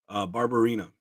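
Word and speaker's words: Barberena: Barbarina. Oh, Barbarina.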